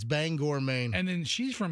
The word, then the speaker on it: Bangor: I'm looking right at No, you don't say you don't pronounce it Banger. Bangor. It's Bangor, Maine.